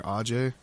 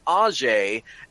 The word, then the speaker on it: Ajay: It's AJ or Ajay. yeah, AJ. He calls himself AJ, but because his name comes from a region where it probably would be pronounced Ajay, everybody else pronounces it Ajay, and it's one of